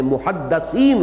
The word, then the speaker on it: محدث: کے ساتھ سمجھ لیجئے۔ محدث دال کے زیر کے ساتھ، وہ تو وہ علماء ہیں کہ جو علم حدیث کے ماہر ہیں، محدثین، فقہاء و محدثین، دال کی زیر لگائیے۔ اور جب محدث کہیں گے تو دال